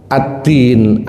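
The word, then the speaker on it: الدِّين: Adin jika diharakati berbeda sedikit maknanya jauh tapi kalau dalam bahasa Arab mirip. Addin jika diharakati fathah. Addain itu artinya hutang. Addin agama, adddain hutang.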